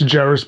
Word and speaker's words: Jeiris: So I'll say like, you say it like Ferris, it's Jeiris, but you say it like Ferris wheel, or like Ferris Bueller's Day Off.